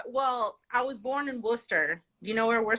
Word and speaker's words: Worcester: and and again like y'all pronounce it warchester and i'm like wha who where is worchester like no it's worcester okay i think it's